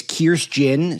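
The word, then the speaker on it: Kirstjen: First of all you you pronounce the J. So it's Kirst Jin.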